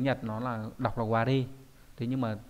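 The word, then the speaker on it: われ: Trong tiếng Nhật nó là đọc là ware.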